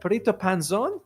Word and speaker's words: Perrito Panzon: I'm going to let PTO Panzone. Is that how it's pronounced?